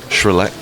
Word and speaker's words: Shroerluke: Shroerluke.